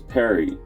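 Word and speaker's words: פרי: The word fruit in Hebrew is peri, and it is spelt with 3 characters from right to left.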